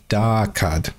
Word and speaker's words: Dhaakad: okay so the right pronunciation is da card right da someone in